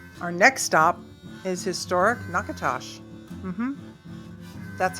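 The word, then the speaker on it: Natchitoches: Our next stop is historic Nakatosh. Mhm. That's how it's pronounced. Nakatosh, not Nacho Toes.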